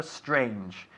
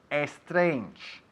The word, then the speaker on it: strange: Lo mejor de lo que acabas de decir ha sido tu pronunciación de la palabra strange, porque casi el 99% de tus compatriotas dirían strange. O sea que espero que no lo estéis diciendo en casa. Strange, empezando con esta S tan fuerte.